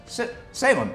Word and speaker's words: Salem: Salem VGM, who says, "Salem, pronounced like Salem, like the witch trials.